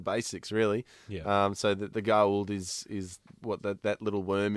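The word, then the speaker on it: Goa'uld: The gold is the little... there's an apostrophe in there. It's pronounced gold.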